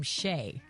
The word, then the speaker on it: Shea: But they did give the baby kind of an ethnic name, Shay. Okay. Yeah, and it's spelled like shea butter, like Right.